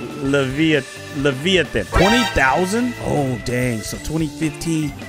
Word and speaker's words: Leviathan: We got the mythic Levitian! Or am I saying it right? Leviathan.